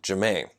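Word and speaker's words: Jam'ie: her name and so her name is Jay am apostrophe IE and she want people to call her Jemaine so what if with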